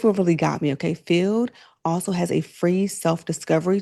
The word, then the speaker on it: Feeld: And lady, that is where Feeld comes in. It's spelled F E E L D, pronounced Feeld.